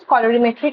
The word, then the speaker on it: colorimetric: And they use colorimetric assay. Like color change we see. The right pronunciation is colorimetric.